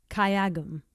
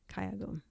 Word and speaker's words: 가야금: How do you pronounce the name of the instrument? 가야금. Kayagum. Yes. Okay. Kayagum. Great. Okay. Kayagum.